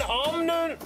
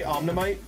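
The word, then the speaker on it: Omanyte: Okay, we get an Omnite. I was gonna say Omnimite, but there's not that many syllables in there.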